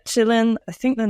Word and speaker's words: Qilin: been trying to do I've actually been saying it quillin so a third option the whole time up until yesterday when we we decided on pronunciation but yeah Chillin I think the name